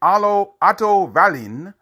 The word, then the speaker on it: Otto Wallin: New Jersey, because Kisner's heavyweight contest against Automatic Otto Wallin, that's how you pronounce his name, of Sundsvall, Sweden, that ended at the end of the first round after an unintentional headbutt.